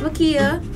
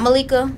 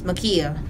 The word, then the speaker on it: Makia: My name's Makia, Brian, not Malika, not Malkia, it's Makia, the L is silent.